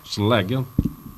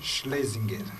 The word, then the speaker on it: Schlesinger: E também conosco o rabino Michel Schleger. Pronunciei corretamente, rabino? Schlesinger. Então não pronunciei corretamente.